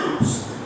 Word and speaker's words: Uz: I don't know how you pronounce that, but he pronounced Uz.